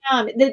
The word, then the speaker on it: Cadmium: Cadmium. The M comes right after the D.